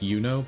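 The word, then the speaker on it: Iuno: And I know the newest character in uh uh Weathering Waves is her name is pronounced Yuno, but it's spelled I U N O.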